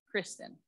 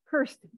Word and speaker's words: Kirsten: Is it Kirsten or Kristen? Kirsten. Kirsten. Kirsten. Kirsten. Yep. Rhymes with curse.